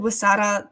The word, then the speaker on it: Huesera: It's called Wasara the Bone Woman.